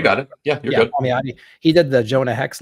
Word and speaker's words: Palmiotti: We got Jimmy Palmiotti or whatever. How do you pronounce his name? You got it. Yeah, you're good. Palmiotti.